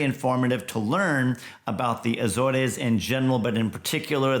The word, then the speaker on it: Azores: at Sea we made our way to the azors I've learned now it's pronounced Azores and there was one Island uh San Miguel